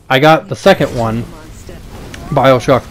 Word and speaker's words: Bioshock: So then of course everyone's like, oh, I gotta dive back into Bioshock. Totally understand that. Said it right that time. I keep saying BioWatch sometimes.